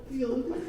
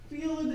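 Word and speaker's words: Feeld: We don't know Field. Really, Middlebury, Vermont doesn't have Field. It's spelled F-E-E-L-D.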